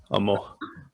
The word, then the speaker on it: amw: Amo. okay. Amo. So weird how it's spelled AMW.